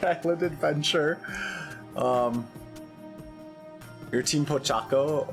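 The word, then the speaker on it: Pochacco: Um your team Pochaco or I've heard people say it is Po or Pochakaco. I don't know. I don't know how to pronounce things because again, wait, no, it is Pochaco because I watched that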